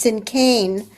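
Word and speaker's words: cinquain: the Cain you said it's a spelled um c i n q u a i n pronounced sin Kan and was um her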